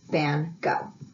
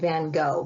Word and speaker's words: van Gogh: The kids will be learning about Vincent van Gogh.